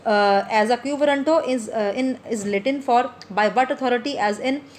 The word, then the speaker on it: quo warranto: The term quo warranto pronounced as a quo warranto is Latin for by what authority, as in by what authority does this person hold this office.